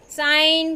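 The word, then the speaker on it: sign: Wednesday, साइन, com, knife, walk, our. First Wednesday में D, second साइन में जी साइलेंट है, कॉम में बी साइलेंट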